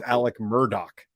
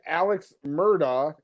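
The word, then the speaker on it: Alex Murdaugh: and his name is Alec Murdock his name that's not his name his name is Alex Murdoch it's very clear to see and to spell and to pronounce and the people that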